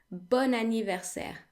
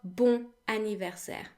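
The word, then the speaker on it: bon anniversaire: to we need to pronounce the letters o and n separately whereby the O is an open o oh oh o and the N is pronounced in the regular way n bun anniversary not boom anniversary okay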